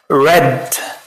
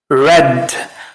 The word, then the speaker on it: red: قول معايا red. red. خلاص بقى اتفقنا ان الار تيجي بعدها بضم على طول، بحط لها سكة الضمة بتاعت العربي عندنا. red.